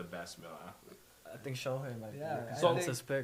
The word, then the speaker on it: Shohei: We got Josh Allen of the Buffalo Bills, Saquon Barkley, Philadelphia, Shea Gilgeous-Alexander, Oklahoma, Shohei Ohtani from. Nah. Did I butcher that? You butchered it. a Shohei little bit. Ohtani? Shohei.